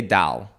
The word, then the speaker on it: doll: you say this word d o l l doll okay so we say Dal my family says that yeah like my cousin's